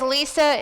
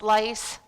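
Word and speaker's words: Lise: like i said is lisa it is spelt with an e it is not pronounced lice although i have been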